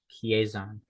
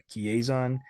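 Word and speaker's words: Chiasson: Chiazon. Chiazon.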